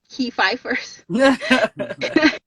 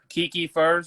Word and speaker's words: Kikifers: first right like uh kiki first right like the drake song kiki do you love me right and so uh